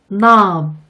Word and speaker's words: knob: K의 발음이 묵음인 경우도 있어요. K가 N을 만나면 부끄럼쟁이 K는 숨어버리거든요. 이쪽도 따라서 연습해 볼게요. No, knock, knife, meat, knob.